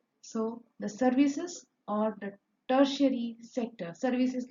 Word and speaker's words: tertiary: most of the children do the mistake while pronouncing this word tertiary territory it is called by the children see the spelling p e r t i a r y tertiary tertiary means third one primary means the first second